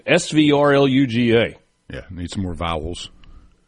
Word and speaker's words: Svrluga: How do you pronounce that name? Svrluga.